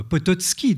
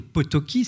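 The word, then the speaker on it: Potocki: aussi plus connu peut-être pototski dont je vous ai parlé au Potoki si on le prononce à la française l'auteur du manuscrit trouvé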